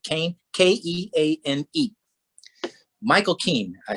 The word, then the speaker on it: Keane: i'll never forget it it's spelled keane but he pronounced it kane k-e-a-n-e michael keane i